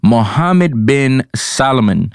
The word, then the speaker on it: Mohammed bin Salman: mbs and i apologize couple weeks ago i butchered his name i said m-s-b-m-a-e-s something like that but it's mbs mohammed bin salman you know i don't know how it is